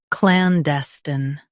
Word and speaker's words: clandestine: Clandestine. Both US and UK have the same pronunciation of this word. Stress clan. Keep dite and end with a soft sten.